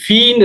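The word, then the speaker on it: في: இங்க குர்ஆன்ல ஓதக்கூல பார்க்கலாம் நீங்க ஃபீன்ற சொல்லு, ஃபீன்ற சொல்ல அதிகமான இடத்தில வரும். ஃி சிலர்கள் இத பி சும்மா சொல்லுவாங்க. ஃபீன்னு சொல்லப்படா ஃபீன்னு உச்சரிக்கணும். ஃபீ இப்ப பாருங்க அல்பைத்துங்கிறது ஒரு இஸ்ம்.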